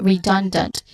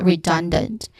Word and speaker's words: redundant: Okay, so this is redundant. The second syllable is the stressed syllable here, so this is redundant.